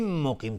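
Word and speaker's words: مقيم: لبسبیل مقیم، تنوین بعدش میم ادغام با غنه. مقیم، قاف از حروف استعلاست غلیظ تلفظ میشه.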